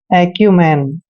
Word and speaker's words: acumen: दोस्तों AC का उच्चारण एक एक करते हैं और यू को यू पढ़ते हैं। एम का उच्चारण मैं करेंगे, ई को ए की मात्रा पढ़ते हैं और एन को ने पढ़ते हैं। एक्यूमैन, दोस्तों एक्यूमैन का मतलब